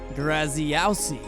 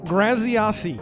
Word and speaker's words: Graziosi: pronouncing his last name it's not that wasn't right Andrew that was that was very butchered you didn't pay good attention in speech class it was Dean grasi oh wow Dean grasi grasi if you say